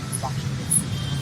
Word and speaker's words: Bangshing: street just call me Bangsheng. So then I guess now, I don't know how Bangsheng is that difficult. It's 2 syllables.